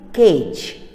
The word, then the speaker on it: cage: is cage cage a the letter a is taking a longer time and a and e is there two verbals are there in cage okay children and e is silent remember that now the next tape